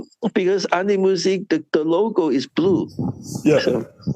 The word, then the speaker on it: An Die Musik: and the DIE only pronounced the letter D has the German. The IE just disappears. So it actually has on. AN is on, DIE is pronounced has B, and MUSIK has music. So it's An Die Musik.